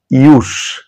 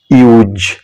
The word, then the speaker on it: use: এর দুটো প্রোনাউন্সিয়েশন হবে নাউন হিসেবে যখন ব্যবহার হবে তখন একরকম আবার যখন ভার্ব হিসেবে ব্যবহার হবে তখন আরেক রকম তাহলে যখন নাউন হিসেবে ব্যবহার হবে তখন এর প্রোনাউন্সিয়েশন টা কি হবে ইউস ইউস ইউস আর যখন ভার্ব হিসেবে উচ্চারিত হবে তখনের প্রোনাউন্সিয়েশনটা কি হবে ইউজ ইউজ ইউজ তাহলে মনে থাকবে আপনাদের